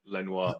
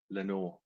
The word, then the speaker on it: Lenoir: is how you pronounce it yeah it is pronounced Lenor not Lenoir buten I don't look that's how I pronounce